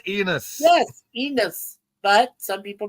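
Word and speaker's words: Enos: But some pronounce it Enis. I don't know. It's Enus. E N O S. Enus.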